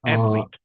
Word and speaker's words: athlete: this word here is pronounced athletes. Can you say that, please? Athlete.